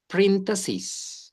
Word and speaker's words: parentheses: This is parentheses. Parentheses. That is the correct pronunciation.